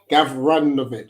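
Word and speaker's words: Gavranović: I pronounced it wrong. Gavranovic, sorry.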